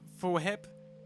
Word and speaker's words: Fwip: Fwip is pronounced Fwhip with a PH, like phone whip.